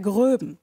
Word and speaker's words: Groeben: Also, der richtige Name, Maximilian Alexander Graf von der Gröben. Ne? Betonung auf den Schluss.